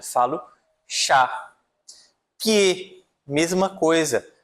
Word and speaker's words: pied: Pie, mesma coisa. Eu não vou falar pied, mas sim pie, tá?